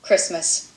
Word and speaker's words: Christmas: CH 있데요 여기에 보면은 첫 번째 경우에는요 앞에 있는 C 소리가 크 하는 소리를 낼 수 있기 때문에 주로 크 하는 소리가 된다는 거죠 여기 스 할 때 스 그다음에 크 하는 소에서 스 이렇게 되거나 크 하고 리스에서 크리스 크리스마스 이렇게 되면은 크 하는 소리가 된다고 알 수 있겠죠 여기도 많이 다르게